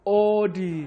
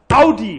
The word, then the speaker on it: Audi: So, the first wrong car name, so many people say Audi, when it's actually pronounced Audi.